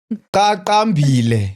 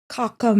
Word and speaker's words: Qaqambile: I said Qaqambile. Yes. You understand? Yeah. Now, the problem is with people that can't pronounce Q, they pronounce QK. Kakam.